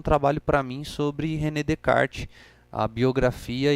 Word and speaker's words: Descartes: que você fala Renê de kart sendo que tá escrito Descartes porque no francês o s só se pronuncia se ele estiver no início de uma palavra se ele tiver no